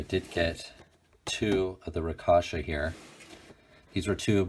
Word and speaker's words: Rakshasa: 2179 figures the Anubis and I think it's pronounced rakasha all right the first thing we're gonna